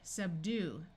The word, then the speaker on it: subdue: UE has a long U sound. Subdue.